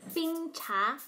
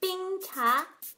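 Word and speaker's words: 冰茶: Bing cha. Bing cha. Bing is first tone. Bing means cold. You've already learned bing cafe, which means iced coffee. Bing cha. Cha is tea. Bing cha.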